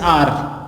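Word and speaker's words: hour: They waited for हर for dash आर, ठीक है, एच से स्टार्ट हो रहा पर एच साइलेंट है तो आर, तो यहाँ पे आ जाएगा एन आर।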